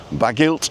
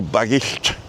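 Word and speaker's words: Bagillt: And the second pronunciation is right, but most people in Flintshire say it the first way, I think. Bagilt or Bagilt? Bagilt.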